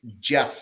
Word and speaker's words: Geoff: that name right I I think it's supposed to be pronounced Jeff I think that's a up way of spelling Jeff isn't it are you serious if